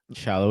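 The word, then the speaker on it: Sallói: And of course, their their biggest absence here, Daniel Shallow. Did I say it right this time? Shallow.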